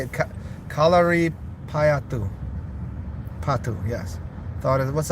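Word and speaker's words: Kalaripayattu: Kalia Peatu. Kalia. How do you say it? Kalari Payatu.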